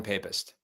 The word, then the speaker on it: Papist: It's pronounced modern papist. Papist. It's pap. Oh, no, I'm not going to hear the end of that. Yeah, it would be papist if it was double P.